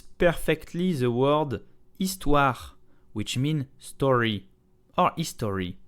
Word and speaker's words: Histoire: The H is silent, so begin on the vowel. It's okay? This is not histoire, no, histoire.